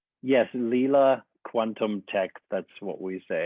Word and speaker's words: Leela: So we're going to dive deep into today to discussing Lila quantum technology and that's how you pronounce it, right? Lila? Philipp: Yes. Lila quantum tech.